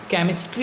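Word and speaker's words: chemistry: ठीक इसी तरह से CH, केमिस्ट्री में देखिए CH है, लेकिन CH का प्रोनाउंसिएशन यहाँ पे हम का करते हैं।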